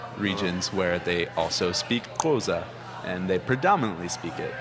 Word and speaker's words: Xhosa: Goza. And that's spelled Xhosa. Is that one? Yes. How do you say it? Xhosa.